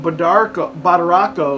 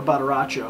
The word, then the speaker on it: Badaracco: Badaracho. Two C's, I would say, is ch in Italian, I'm pretty sure. Or maybe one C at the beginning, like ciao, I don't know.